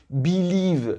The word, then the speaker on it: believe: généralement, en langue anglaise, lorsque nous avons un verbe composé de 2 syllabes, l'accent tonique, c'est où on va mettre un peu plus d'intonation, d'accord? Il va se retrouver où? Dans la deuxième partie du mot, dans la deuxième syllabe, d'accord?